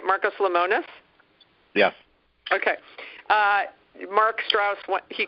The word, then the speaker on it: Marcus Lemonis: Marcus Lemonis?